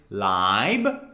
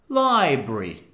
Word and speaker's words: library: Number one, the American pronunciation, it's library. Say it with me, library. However, for the British pronunciation, since the British people don't pronounce the R, they say library, library, library, library.